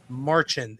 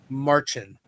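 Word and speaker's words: Marcin: Marchin. M a r c i n. I even googled how to say it. It's a a Polish name. So, okay, Marchin.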